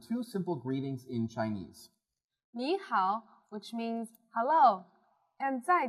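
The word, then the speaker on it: 你好: there are four tones the two words used here happen to be in the third tone which means they have a falling rising tone so you would say me and how me how can you say that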